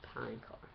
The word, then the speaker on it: Palancar: By the way, it's pronounced Palancar.